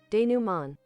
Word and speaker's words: DeMent: is definitely not correct DeMent is d man yeah D Man French word originally wait this one says